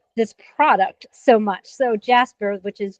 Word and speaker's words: Jaspr: So Jaspr, which is Jaspr, not spelled like you Yes.